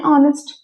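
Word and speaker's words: honest: बात की मैंने तो ऑनेस्ट में तो एच से शुरू हो रहा है लेटर स्टार्ट वर्ड तो एच है लेकिन आता क्या है है एन ऑनेस्ट क्यों भाई क्योंकि एच जो होता है वो साइलेंट होता है साउंड ओ की आ रही है और ओ की साउंड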